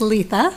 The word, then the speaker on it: Letha: My name is pronounced Letha, so it's Letha.